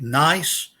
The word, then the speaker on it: gneiss: remember from earth science is a rock like gneiss, the G is silent, schist, got to be careful when you pronounce that in English, and also over here, I can move it, marble.